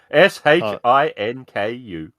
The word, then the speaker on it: Shinku: Shinku? Spell it. Chinku. Shinku. Z-I-N? I think you have to spell Yes. it. Shin. S-H-I-N-K-U.